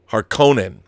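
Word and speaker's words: Harkonnen: the harken in pronunciation I believe the world the word is supposed to have an oot harkonen if you apply a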